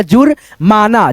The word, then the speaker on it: जुर्माना: फिर यहाँ पे जू, उसके बाद से यहाँ पे रेफ की मात्रा का उच्चारण ज के बाद आ जाएगा जुर्माना, जुर्माना, ऐसे करके।